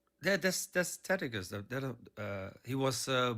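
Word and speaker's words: Tacitus: That's that's Tetagus that uh he was uh also 30 years. Yeah, that's how you pronounce Takitus.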